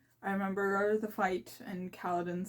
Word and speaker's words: Kaladin: Kaladin is Kaladin, Dalinar is Dalinar, Navani is Navani, Yasna is Yasna, oh, Sit.